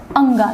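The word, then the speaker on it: ङ: ख ग घ और अंगा। याद रखिएगा, बहुत लोग इसका उच्चारण अड़ा भी कर देते हैं, लेकिन इसका उच्चारण होता है अंगा।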